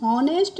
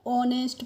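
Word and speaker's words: honest: तो एच ओ एन एस टी को हम हॉनेस्ट नहीं पढ़ते हैं। क्या पढ़ते हैं? ऑनेस्ट पढ़ते हैं। क्योंकि यहां पे जो एच है इसका प्रोनाउंसिएशन हम ओ कर रहे हैं।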